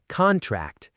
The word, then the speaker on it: contract: Sentence four, contract, stress on the first syllable, noun meaning the document.